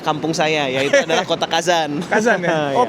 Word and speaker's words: Kazan: Kazan itu kalau Bapak lihat itu hurufnya K A 3 A H B. Kelihatan enggak di situ? K A 3 A H B tulisannya gitu. Itu bacanya kazan. Kazan ya.